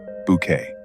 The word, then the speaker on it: Bucket: social climbing world of Hyacinth Bucket, pronounced Bouquet.